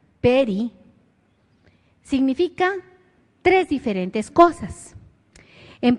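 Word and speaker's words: פרי: Y esta palabra que se pronuncia peri, significa tres diferentes cosas.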